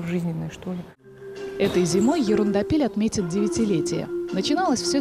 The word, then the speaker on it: Ерундопель: А ударение в названии просят ставить на последний слог – «ерундапель». Так звучит интереснее и немного по-французски.